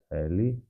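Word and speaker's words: phthalimide: तो इसका नाम लिख दो क्योंकि पी साइलेंट होता है, थैलीइमाइड, ठीक है।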